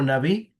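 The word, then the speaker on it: נביא: Quisiera profundizar que hayamos hablado de que la palabra profeta del del hebreo viene de o se pronuncia en el hebreo naví, que significa portavoz o vocero.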